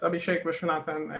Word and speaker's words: Abhishek Viswanathan: a little bit about us my name is abhishek vishwanathan i use he him pronounced i'm a phd student from bombay in